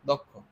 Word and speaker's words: দক্ষ: যদি আমরা এই শব্দটা খেয়াল করি, এই দ এর পরে একটা অ উচ্চারিত হচ্ছে এবং তারপরে ক্ষিয়, তাহলে দ এর সাথে মূলত ওকার হবে। আর ক্ষিয় উচ্চারণ করতে গিয়ে প্রথমে ক তারপরে খ, দক্ষ। তাহলে আমাদেরকে খ এর সাথে অবশ্যই একটা ওকার দিতে হবে।